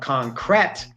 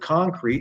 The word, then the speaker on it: concrete: Because it has an "e" on the end. If that "e" did not exist in the word "concrete", it would be pronounced "concrette".